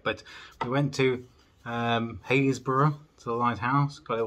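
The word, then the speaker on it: Happisburgh: across to the uh as I pronounce it habisberg what was it actually called hayesboro Lighthouse it's spelled habisberg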